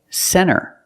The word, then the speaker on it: center: When you see NT, a lot of times you don't hear the T. Example, center. Of course, you can say center, it's correct, but a lot of Americans will pronounce it center.